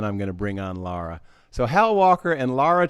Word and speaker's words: Lara: My name is pronounced Lara like Sarah.